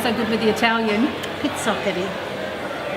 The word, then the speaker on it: Pizzoccheri: It's fantastic, and for those that don't know, Wanda's recipe, you'll have to pronounce it for me because I'm not so good with the Italian. Pizzoccheri. Pizzoccheri.